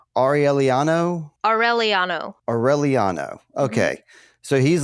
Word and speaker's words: Aureliano: I hate to keep going on this, but I'm just awful at pronunciation. Aureliano.